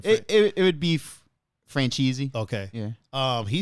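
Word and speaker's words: Franzese: said you say his name it would be franchisee okay yeah um he said that if any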